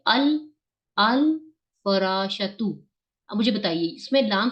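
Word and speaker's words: الفراش: नहीं बताए मुझे सब अल फराश तु नहीं क्यों क्योंकि ये मून लेटर में से ये इन लेटर्स में से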